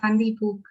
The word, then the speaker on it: Gandhi Puk: How do you pronounce that? Gandhi Pook, right? It's Gandhi Pook.